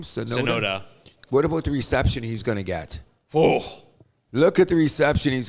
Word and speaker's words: Tsunoda: So, which is going to be interesting, because Yuki Tsunoda is going to be taking a seat at Red Bull at the Japanese Grand Prix.